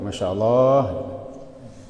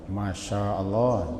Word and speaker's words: Masya Allah: Cuman kadang-kadang orang bacanya agak keliru je. Masya Allah. Panjangan ma-nya. Kalau kita pendek ma-nya nanti berjalan Allah. Masya Allah.